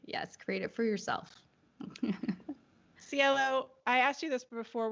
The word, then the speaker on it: Cielo: And it's a coincidence, but it's also how I tell people how to pronounce my name.